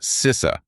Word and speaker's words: CISA: That's pronounced CISA, the Cyber Security and Infrastructure Security Agency.